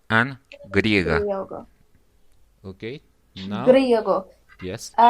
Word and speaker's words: griego: Grego, and for female is Grega. Yes, you are right. Griego and griega. Griego. Okay. Now, Griego. yes. If there is only one R, so I pronounce Griego.